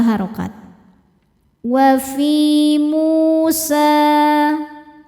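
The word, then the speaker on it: موسى: Wa fi Musa, mu hukumnya adalah mad tabi'i dhohiri, sebab ada waw sukun sebelumnya baris dhammah. Cara bacanya panjang 2 harokat.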